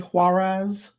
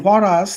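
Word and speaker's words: Huaraz: Am I pronouncing this correctly? Huarez. Huas. Huas. In Huaras, the sight of barefoot half- naked children with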